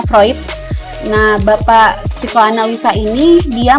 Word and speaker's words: Freud: namanya cat metroid ya Jadi bukan Freud ya bacanya vroid Nah Bapak psikoanalisa ini